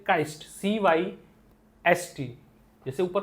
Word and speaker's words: cyst: तो ये जो ब्रेक हुआ है ना, ये जो चीजें टूट गई हैं, छिलके, इस छिलके को काइस्ट बोलते हैं।